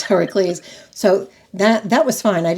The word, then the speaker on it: Heracles: Where the other pronounce. If you say Heracles and somebody thinks I'm having a seizure or something, it's Heracles.